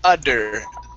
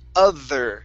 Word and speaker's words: other: Okay, so here you're saying udder. On the other side. Okay, so you want to say the other. Tongue between the teeth.